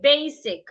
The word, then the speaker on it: basic: not basic basic basic the s in basic sounds like s do not change it to zed do not say basic